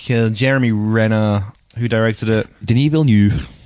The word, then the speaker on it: Denis Villeneuve: Denis Villeneuve. Is that how you pronounce it? Yeah. Oh, I've been calling French him Dennis Villeneuve for fucking the entire time I've seen that name.